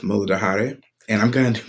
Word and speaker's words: Muladhara: So, going into the first chakra, we have the root chakra, which in Sanskrit is pronounced Muladhara.